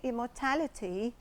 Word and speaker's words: immortality: Well, it's a noun that is stressed on the third syllable. We pronounce it this way, immortality, and the adjective is immortal.